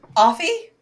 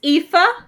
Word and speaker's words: Aoife: Offie? Effie? What the? Well, okay, so AI is ass. It's spelled like ash.